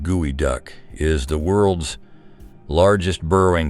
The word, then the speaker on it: geoduck: The geoduck, pronounced gooey duck, is the world's largest